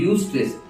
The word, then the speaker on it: eustress: यू स्ट्रेस, इसका spelling है EUSTRESS, तो यू स्ट्रेस एंड डिस्ट्रेस।